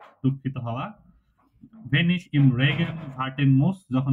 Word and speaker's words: wenn: ভেন, ভেন, Wenn, sorry, এটা এখনো ভেন, ঠিক হচ্ছে না। ঠিক আছে। Wenn বলেন।